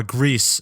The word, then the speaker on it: Gris: the developers on Twitter who clarified the game is spelled g r i s uh Greece is the Spanish word for gray which makes